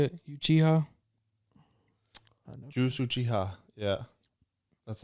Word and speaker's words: Uchiha: Juice Uchiha.